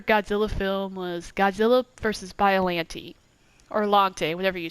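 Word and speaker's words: Biollante: film was Godzilla versus biolante or lagte whatever you say how are you however you say your name but I think it's by alanity which is like the proper pronunciation so um after I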